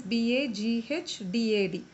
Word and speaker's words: Baghdad: So how you should remember is Baghdad, actually the spelling is Baghdad. So that we are actually pronouncing as Baghdad. So you have to remember, like in a bag, daddy is taking a bag and going out to